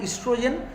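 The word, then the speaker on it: oestrogen: Sex hormone মেয়েদের ক্ষেত্রে হয় হচ্ছে দুটো হরমোন, একটা ওয়ান is called এস্ট্রোজেন, spelling লেখার সময় প্রোনাউন্স করার সময় ইস্ট্রোজেন, যখন লিখবে তখন মাথায় রাখবে হচ্ছে ওই ইস্ট্রোজেন, OESTRO, ওইস্ট্রোজেন।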